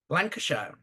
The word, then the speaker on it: Lancashire: she she laner how do you say it Lancashire yeah she did yeah she immigrated to Canada